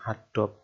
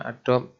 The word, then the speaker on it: Adobe: aplikasi itu masuk di rumpun adob ya adob Adobe tulisan nya bacanya Adobe di situ ada Photoshop